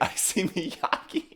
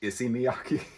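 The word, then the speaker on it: Issey Miyake: you guys have any i see miyaki to my credit though the guy working at the store was like it's actually pronounced issy miyaki diamonds on my pleats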